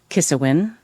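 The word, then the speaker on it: Ciosáin: I worked with um a PhD from Gway University uh Neil Kisawin. Um, and it's this crazy Gaelic name that you never pronounce as Kisawin if you saw it.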